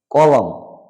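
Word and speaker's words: column: silent মানে অগ্রাহ্য করা মানে কলাম এন সাইলেন্ট থাকবে মানে সংবাদপত্রের কলাম তো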